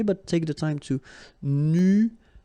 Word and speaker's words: nuageux: Un ciel nuageux. This can be quite tricky, but take the time to nuageux. Remember, final X here, not pronounced.